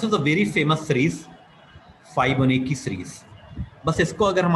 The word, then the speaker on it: Fibonacci: फाइबोनेकी series, britisher कहते हैं फिबोनेची series. इसको उनका प्रोनाउंसिएशन थोड़ा अलग होता है, फिबोनेची सीरीज.